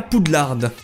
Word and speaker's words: Poudlard: Une lettre pour aller à Poudlard. Oui, je prononce le D à la fin, oui.